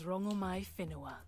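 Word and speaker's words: Rongomaiwhenua: My name is Rangomai Finoa. Oh. Oh, we've been mispronouncing you the whole time.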